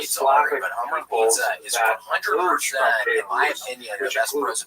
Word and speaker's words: Kyiv: That's the Ukrainian pronunciation, by the way. That's favored today because, of course, Ukrainian is the dominant language in the country. But it used to be called in English Kiev, which is closer to the Russian pronunciation because Russia dominated much